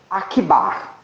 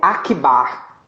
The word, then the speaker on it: Akbar: Se chama Jodar Akbar.